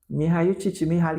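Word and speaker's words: Mihaly Csikszentmihalyi: Mihail Csikszentmihalyi, que é um monte de consoante, gente.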